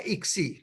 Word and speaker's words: ICSI: इसके बाद है ICSI, इसका प्रोनाउंसिएशन है इक्सी, इंट्रासाइटोप्लाज्मिक स्पर्म इंजेक्शन।